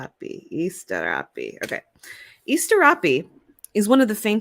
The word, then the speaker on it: Asterope: I wanted to know how to pronounce it correct. So it's Asterope. Asterope.